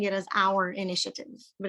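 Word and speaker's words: AURE: e aware understand respect and embrace and i'm pronouncing it as our initiative but it's a-u-r-e i would highly recommend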